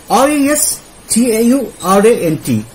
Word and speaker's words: restaurant: pronunciation session okay right r-e-s t-a-u-r-a-n-t restaurant you don't have to stretch it too much you're gonna have to just just stretch it like this much catastrophe once again catastrophe